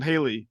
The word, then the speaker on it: Haley: important to talk about the colors here um Holly Brown is it am I pronouncing right um Haley Haley Brown Haley yes so how does Haley's